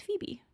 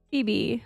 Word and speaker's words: Phoebe: h o e b if you've ever seen the show friends um it is a character on friends but it's kind of